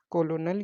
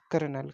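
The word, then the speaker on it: colonel: से स्टार्ट होता है यानि कि कॉलोनल या फिर कर्नल कर्नल उसको पढ़ा जाता तो इसका करेक्ट आंसर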